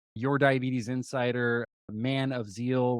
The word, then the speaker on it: Tzeel: diabetes Insider man of zeal with a silent te on Instagram and Tik